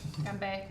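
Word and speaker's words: 干杯: Ganbei.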